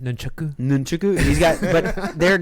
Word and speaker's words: nunchaku: I think it's pronounced nunchaku.